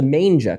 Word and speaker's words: manga: to us about the Manga Club. What is Manga exactly? I have to correct you on that. It's pronounced manga. Manga.